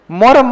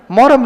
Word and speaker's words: मुहर्रम: दृश धातु में अन्य प्रत्यय क्या होगा इसका शुद्ध रूप मूरम मोरम मत चेप के जाना वहां शब्द क्या होता है मूरम ये ध्यान रखिएगा मोहरम नहीं होता है अपने स्कूल में क्या